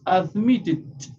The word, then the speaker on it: admitted: Entonces, no decimos admit, decimos admitted con t.